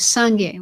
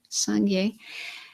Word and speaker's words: Sangye: The Tibetan term for Buddha is Sangye, which is the first part of my name, Sangye. And that has two syllables. So the first syllable is Sang, and that means clean or pure.